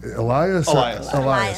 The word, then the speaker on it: Elias: Hey, and okay, as far as how do we pronounce it? Elias.